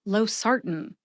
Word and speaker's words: losartan: Note that I eat the A in the last syllable, tan. What does that mean to eat the A? You're probably wondering. It means that the A in the last syllable, tan, is practically eliminated when I say Losartan. See if you can hear it when I say it again.